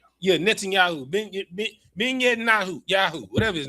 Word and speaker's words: Netanyahu: Yeah, Netanyahu, Ben Netanyahu, whatever his name is.